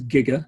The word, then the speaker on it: giga: is giga g for giga capital g it's pronounced as giga not and 10 power of nine and that's